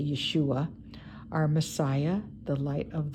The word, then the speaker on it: Yeshua: some of them say Yeshua, our Messiah, the light of the world. Yeshua is how you say Jesus's name in Hebrew.